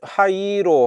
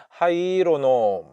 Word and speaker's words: 灰色: 그런음 어 뜻이고 예 하이로 예이가 두 번이 왔으니까 이거 이제 장음으로 어 발음을 해야죠 하이로 하이로 어 원래는 하이이로 온 거 같은데 하이로 예 하이로 하이로